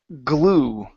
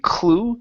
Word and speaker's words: glue: Let's go to the word glue. Okay, so here you pronounce the C saying clue. It's glue.